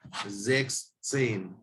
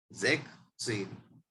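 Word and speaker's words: sechzehn: कोई प्रोनाउंस करके देखो जरा, जेक्स सेन, जेक्स सेन, क्योंकि यहाँ पर एस है और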